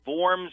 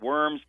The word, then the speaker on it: Worms: the ugly name there's a German city called forms we pronounce it worms but in the city of worms they had